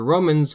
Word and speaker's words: Roma: The Romans called this the litera canina, the dog letter, because it sounds like a snarling dog.